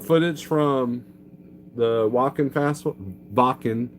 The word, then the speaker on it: Wacken: Check out footage from the Wacken Festival, Wacken, if you say it correctly, festival.